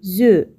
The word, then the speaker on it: œufs: pluriel des œufs et faites attention on ne prononce pas les consonnes finales des œufs un ciel 1 devient